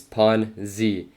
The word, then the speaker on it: Ponzi: day he just responded the right pronunciation is pawn zee saying that he thinks